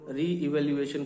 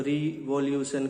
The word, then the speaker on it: re-evaluation: कह सकते हैं, लेकिन कुछ स्टूडेंट्स हैं जो री इवैल्यूएशन को ठीक से प्रोनाउंस नहीं कर पाते। उसको रीवॉल्यूशन कहते हैं या रो इवैल्यूएशन कहते हैं।